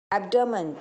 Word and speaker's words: abdomen: एब्डोमेन, ABDOMEN, एब्डोमेन, आया।